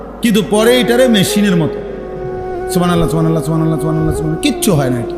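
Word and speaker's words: سبحان الله: পরে এটারে মেশিনের মতো সুবহানাল্লাহ সুবহানাল্লাহ সুবহানাল্লাহ সুবহানাল্লাহ সুবহানাল্লাহ, কিচ্ছু হয় না। এটা হা উচ্চারণ না হলে তো তাসবিহ হয় নাই। শেষের গোল হাটা সাকিন করতে হবে এবং প্রত্যেকবারই নিঃশ্বাস ফেলতে হবে।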